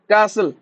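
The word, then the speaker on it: castle: टी टी इन कास्टल कास्टल टी कौन हो कैसल कैसल T silent रोच obviously T कौन हो साइलेंट रोच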